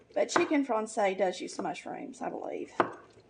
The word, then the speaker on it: Francese: You know, there's some variations, but it's pronounced Francese, I think, if it's Italian, if it's the Italian pronunciation.